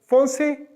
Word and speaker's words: français: बस ई, वो ई का साउंड आप इसमें एंटर करेंगे, फोंसे, फोंसेज, बस यही डिफरेंस है।